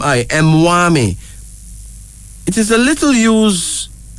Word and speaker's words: Mwami: one mtia Emi Mami m w m i mwami it is a little used a title used